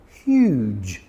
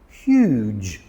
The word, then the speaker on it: huge: So, h u g, hug. Everyone loves a good hug. But when you put an e at the end of it, it becomes huge. Huge.